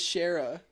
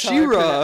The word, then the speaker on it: She-Ra: Okay, I thought it was Shara. No, That's She-Ra.